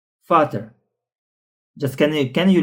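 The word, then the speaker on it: Vater: Example that I provided in the the word Fater like Fater. Fater.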